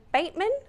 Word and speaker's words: Batman: He actually pronounced his name Bateman, which that was a little bit of a hitch there, but let's just say Batmania for the moment.